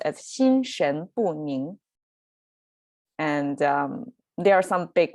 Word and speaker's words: 心神不宁: it so um all together this phrase is pronounced as shin shen bun and there are some big words in this